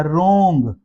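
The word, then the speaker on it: wrong: तो आर से पहले डब्ल्यू है। तो डब्ल्यू यहां पर साइलेंट हो जाएगा। रॉन्ग रॉन्ग वर्ड को रोंग नहीं पढ़ेंगे। रोंग को रोंग नहीं पढ़ेंगे। वरना वह वाकई रोंग हो जाएगा। गलत हो जाएगा। रॉन्ग वर्ड जो है आर से ही पढ़ा जाएगा।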